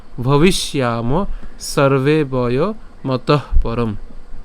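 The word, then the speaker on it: ভবিষ্যামঃ: এরপর নচৈব ন ভবিষ, ভবিষ, অর্থাৎ এখানে আমরা ভবিষ অর্থাৎ মূর্ধন্য ষ পর্যন্ত উচ্চারণ করলাম, এবং যে জফলা আছে জফলা উচ্চারণ আমরা কতটুকু পর্যন্ত উচ্চারণ করছি? ইয়ামহ পর্যন্ত উচ্চারণ করলাম। ঠিক আছে, ভবিষ ইয়ামহ সর্বে বয় মতঃ পরম।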